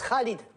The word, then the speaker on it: Khalid: On prononce Khalid, avec une jota comme en espagnol.